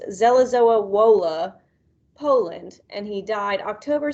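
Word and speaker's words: Żelazowa Wola: He was born March 1st, 1810, and I'm going to try my best to say that it is pronounced Zelazowa Wola, Poland, and he died October 17th, 1849 at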